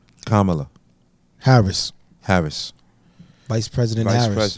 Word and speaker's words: Kamala: CA Kamala Kamala Kam you being disrespectful it's Kamala how you say her namea Harris CA Harris